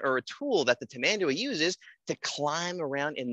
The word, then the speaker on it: tamandua: They're sometimes called a lesser anteater, but the fun way to say it is tamandua.